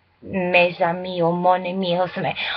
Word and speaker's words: mes amis: I know you don't pronounce the S, but there's also a